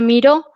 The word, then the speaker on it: Miro: simultáneo es un tablero se llama miro con acento en la voz que sirve bueno es